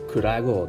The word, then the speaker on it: 暗川: 暗い川と書いて倉郷です。